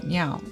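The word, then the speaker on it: Miles Prower: you who don't know Meow in this case is spelled m y Au U it sounds like like meow like the noise the cat makes um Sega of America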